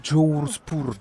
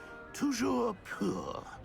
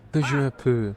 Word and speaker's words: Toujours pur: I order you to pronounce it for me. Oh, but Master knows that Scrope's French is most pitiful. Oh, Jours pur. Very well. Toujours pur. Toujours pur.